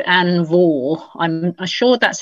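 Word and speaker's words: Vaux: plot had succeeded but a lady called ann vaughal i'm i'm sure that's how he pronounces belt v-a-u-x she well she was played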